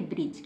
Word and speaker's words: bridge: यदि डी के तुरंत बाद जी आता है, यहाँ पर साफ साफ लिखा हुआ डी के तुरंत बाद यदि जी आता है तो डी साइलेंट रहेगा। डी को हम नहीं पढ़ेंगे तो क्या पढ़ेंगे? ब्रिज।